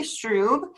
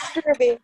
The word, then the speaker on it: Strube: It's Struby, but it's okay. Struby.